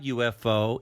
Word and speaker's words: UFO: diver we saw a ufo in the night sky if you notice ufo is pronounced with a y sound a consonant sound in the beginning u f o they